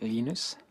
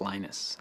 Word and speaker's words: Linus: I speak Swedish it's heinous when speak Finnish it's Lino's when I speak English its Linus and I really don't